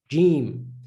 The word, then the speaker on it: Jeem: the name correctly you most definitely then can pronounce this the sound of this letter so this letter's name is jim so we know already that the sound of